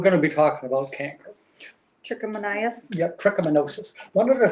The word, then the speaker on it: trichomoniasis: Some people call it, well, the technical name, if I'm pronouncing it correctly, is. We're gonna be talking about canker. Trichomoniasis?